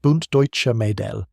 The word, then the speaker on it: Bund Deutscher Mädel: At 15, she joined the Bund Deutscher Mädel, pronounced Bund Deutscher Mädel, the female branch of Hitler Youth.